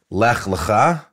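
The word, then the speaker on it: לך לך: Lech lecha.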